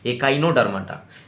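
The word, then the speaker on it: Echinodermata: इस तरह से प्रोनाउंस करिएगा, इकाइनोडर्माटा।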